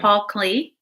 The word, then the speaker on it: Klee: Did you say Clay or Clee? Paul Clee. Clay? Paul Klee.